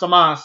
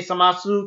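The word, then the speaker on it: Zamasu: It's spelled Samasu, but you don't pronounce the U.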